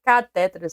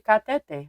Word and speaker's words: cateter: A gente fala sempre catéteras, né? Mas o a palavra correta, viu? Aí vai que caia, né, no teu português lá é cateter. Não tem acento, né? Mas pronunciamos sempre cateter. Mas vai aqui, a gente esqueça, não tem acento aqui para ser o cateter. Catéter, né? teria que ter assento.